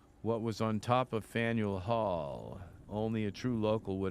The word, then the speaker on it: Faneuil Hall: And Faneuil Hall. Don't let the French spelling confuse you. The name of this building is pronounced Faneuil or Faneuil. Faneuil Hall. Faneuil Hall.